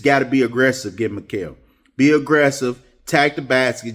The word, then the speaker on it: Mikal: Yeah, Malik, if I pronounce, I'm just going to say Bridges because I hate to pronounce people's name wrong. Mikal, my bad.